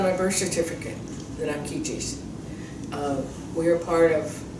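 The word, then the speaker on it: Keechi: I'm Ki, not Kchi, but Ki, and that's spelled K E E C H I.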